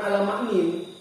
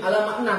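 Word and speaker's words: على معنى: Makanya ala makna ini kalian kemarin saya suruh baca itu bacanya ala makna bukan ala maknin. Bukan ala maknin, ala makna tetap.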